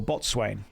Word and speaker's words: boatswain: Boatswain or bosun, depending on how you want to pronounce it.